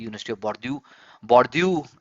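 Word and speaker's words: Bordeaux: बॉर्ड्यू एक बॉर्ड्यू जो है एक फ्रेंच वर्ड है, BORDAU, बॉर्डेक्स भी बोलेंगे इसको, बॉर्ड्यू करके प्रोनाउंस करते हैं।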